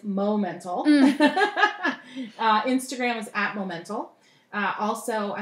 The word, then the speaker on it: Momental Designs: with my business theme because it's easily mispronounced as monumental but it's mo mental instagrams atma mental also